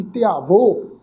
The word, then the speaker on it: ध्यावो: हुण इत्थे पाठ की है जी, ध्यावो धद्दे नूं सिहारी, ऐड़े नूं कन्ना, वावा हाही दी जिहड़ी औंकड़ दी मात्रा है, ये अपने तो पहले अखर ते होड़े दी मात्रा वांगू प्रोनाउंस होएगी। ध्यावो, हर ध्यावो संतो जी,